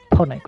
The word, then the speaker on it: Ponic: It rhymes with tonic. Yeah, Foxtra. Yeah. That's chronic, no. Chronic, no. Shall I just tell you? It is a little mini gladiator on a stick. It is called Ponic with a P.